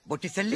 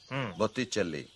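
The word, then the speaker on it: Botticelli: গায়েট্টো, বটিসেল্লি।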